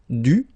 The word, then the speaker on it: dû: So even if you put this accent circonflexe, you don't pronounce it, okay? It doesn't change the sound of the letter U, so it's the same phonetically, it's U and then U, okay?